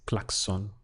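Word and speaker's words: claxon: I am in Mexico they use Clarkson but they would pronounce it as klaxon klaxon that would be a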